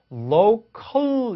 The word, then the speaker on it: local: 근데 이렇게 지방이라는 단어처럼 로컬 같은 단어처럼 마지막에 이렇게 L 사운드가 오는 경우가 있어요. 이렇게 나올 때는 혀끝에 딱 닿지 않습니다. 살짝 닿으면서 끝나거나 달랑말랑하다 끝나는 경우도 있어요. 그래서 local 이렇게 되는 게 아니라 local 이렇게 되는 거죠.